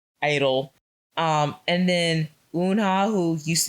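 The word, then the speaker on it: (G)I-DLE: She's friends with Mion, Mion, who was in, I think the group's name is Idol, but for some reason I still want to say G-Idol.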